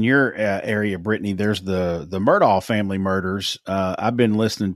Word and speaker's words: Murdaugh: Speaking of true crime, down in your area, Brittany, there's the Murdaugh family murders. I've been listening to, or Murdaugh, I guess is how you pronounce it correctly.